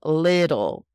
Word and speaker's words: little: Now, with that TT in the middle, little. It sounds like LIDL, which is the name of a famous supermarket chain.